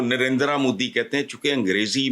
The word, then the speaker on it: नरेंद्र: इस तरह है यह यह लफ्ज जो है ना इसको प्रोनाउंस यह ना नरेंद्र है ना नरेंद्र है यह नरेंद्र हल्का सा बहाल दुनिया के अमीर